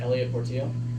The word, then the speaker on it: Elliot Portillo: So if I have to pronounce it on TV, I can say it right. Yeah, Elliot Portillo.